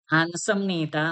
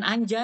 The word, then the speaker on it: 앉습니다: Heeh, ansem nida, heeh, jangan jangan anja ya, ansem nida, heeh. Dodo itu ANJ tapi bukan anjing ya, ANJ tulisannya bacanya an ya, ansem nida.